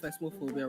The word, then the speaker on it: Phasmophobia: Allow is spelled phasmophobia wrongly. That's very wrong. It's not phasma, it's phasmo. Mo, not ma. Okay, let me see.